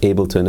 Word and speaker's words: Ableton: for able to nine thank you to the people that let me know that it's actually correctly pronounced Ableton and while we're in